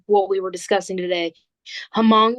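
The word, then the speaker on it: Hmong: we were discussing today hamong is how they say it orong hamong uh we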